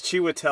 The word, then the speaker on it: Chiwetel: Oh, I always forget how I can't Oh, pronounce his name. it's Chiwetel.